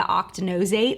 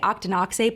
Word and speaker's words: octinoxate: banned in Hawaii the octa knows eight I think it's how you pronounce it I always want to say Octonauts eight but I think it's octinoxate that's the one that has